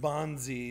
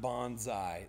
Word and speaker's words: Bonzi: His name is pronounced Bonzi, not Bonsai.